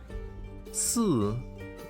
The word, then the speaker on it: 四: Because 四 pronounced like 死 and 死 means death.